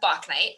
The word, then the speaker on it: Bauknight: circle and i am here today with bach knight am i pronouncing your name correctly i was wondering